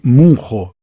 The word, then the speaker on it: Munro: me desculpe eu tenho muita vergonha dos meus pronúncia está a gente mas é alice munro m o nr o essa senhora é incrível